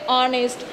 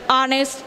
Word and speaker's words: honest: say honest we say honest because here h is silent so we pronounced it as honest not honest so we